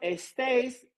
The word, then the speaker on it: estáis: Vosotros estáis de vacaciones. No, se pronuncia estáis. Estáis.